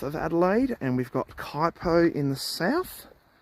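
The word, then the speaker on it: Kuitpo: way bran you've got kaipo Forest which is spelled k-u-i-t-p-o quiet coyote PO for those who don't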